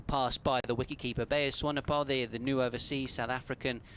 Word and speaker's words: Swanepoel: Interesting start there for just give me the pronunciation once again, Ben. Bayers Swanepoel. Swanepoel, we're saying, right, because it seemed back after it had passed the stumps, that one from Swanepoel.